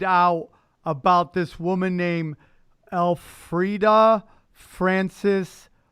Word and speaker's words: Elfrida: you guys find out about this woman named Elfrida Francis? How do you pronounce her last name? Bukowski. Bukowski. What an man! That is a name and a half. I've never. Elfrida. I think it's Alfreda.